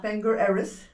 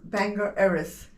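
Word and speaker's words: Bangor Erris: Bangor Eris. Huh? Bangor Eris. But it's spelt B-A-G-O-R.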